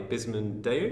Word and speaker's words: Bisman Deu: Here in this episode, I'm joined by Bisman Deu. Is that how I pronounce yeah, it correctly?